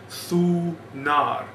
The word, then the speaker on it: Thunar: But as we said before, Thor is actually a later pronunciation. The original pronunciation was Thunar.